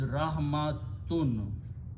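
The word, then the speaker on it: رحمة: You do not pronounce the ya. This is rahmatun.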